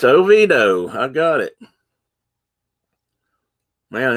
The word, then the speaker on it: Oviedo: over the country and it's shelbyville but they pronounce it shovel it's a tennessee thing i guess okay it's oviedo i got it man i don't have me